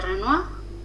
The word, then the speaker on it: Renoir: complementarios bien bueno ya tenemos la presencia de renoir y hay una película si pueden mirarla también